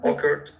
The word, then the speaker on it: occur: right occurred yeah don't occur occur so you put the emphasis on the second curve occurred occurred okay occur